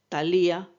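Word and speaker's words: Θάλεια: Suele admitirse que los nombres de las cáites o gracia sean esplendor, alegría y alborozo, que en griego se pronuncia aglae, talía y eufrosine.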